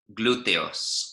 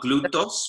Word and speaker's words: glúteos: How do we pronounce glúteos? Well, it needs an E in there. Glúteos. Yeah? Not glutos, but glúteos.